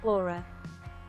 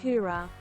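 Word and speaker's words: Oorah: that one the other one uh kaizler said aura he doesn't say it right it's like that is said hura hang on so get her to say it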